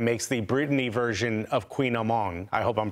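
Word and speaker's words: kouign-amann: No, okay, how do you actually say it, though? Queen Amon. Queen Amon. Okay. So close.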